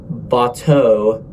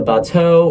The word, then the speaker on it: bateau: a package called a bateau. Yes, it's spelled like that. It's French. Larger farms would just put their products on boats. They would place the bateau or the boat on